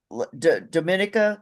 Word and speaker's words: Dominica: your victories this year with Thea LaFond, the Dominica, is that it?